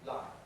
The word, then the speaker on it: lion: That's a clear L because it's before a vowel. Lion.